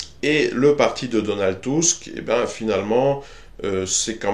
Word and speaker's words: Tusk: de Donald Tusk, hein, j'utilise à dessein la prononciation allemande qui, il me semble, est aussi en usage en Pologne, et non cette prononciation anglaise ridicule de Tusk qui domine dans les médias français, parce que ce sont des ignares.